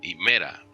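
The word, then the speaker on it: ἡμέρᾳ: Si aparece con la a y una iota suscrita debajito, aquí abajito, entonces significa que está en caso dativo, himera. Esta iota suscrita no cambia la pronunciación, ¿ok?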